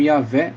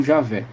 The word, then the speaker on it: Yahvé: Entretanto, aos poucos esse nome vem sendo substituído pela forma Yahvé ou Javé, que é a pronúncia mais próxima do original.